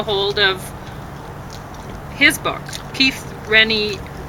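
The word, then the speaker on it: Raniere: can't get a hold of his book, Keith Renier. How do you pronounce it again? Ranieri Ranieri.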